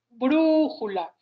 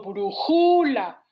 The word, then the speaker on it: brújula: Aquí, si yo pronuncio la palabra con énfasis, me voy a dar cuenta que la sílaba tónica es brújula, porque no digo brújula, tampoco digo brújula. Entonces, la sílaba tónica es brú, y aquí la tabla